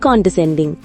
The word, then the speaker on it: condescending: Hi friends, இன்னைக்கு நாம பார்க்க போற வேர்ட் condescending. இந்த வேர்ட் எப்படி ப்ரொனவுன்ஸ் பண்ணணும்னா con d sen ding condescending.